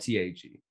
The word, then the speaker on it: Tag: And it's spelled with letters, it's spelled T-A-G, but it's pronounced Tag.